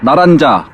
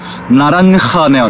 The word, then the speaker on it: naranja: 요거 나란자 나란자가 아니라 방금 검색했더 그제가 호다 호다라고 해서 발음이 이렇게 되는데 나란하네요.